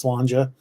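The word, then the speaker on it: sláinte: cheers in Gaelic is spelled s-l-a-i-n-t-e but it's pronounced slanger uh yeah gaelics in an interesting language but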